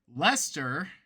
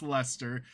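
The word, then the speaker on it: Leicester: exist today which include Lester. The Brits are going to appreciate the pronunciation of that. Not how you spell that. There's a lot of extra letters, but it's Lester.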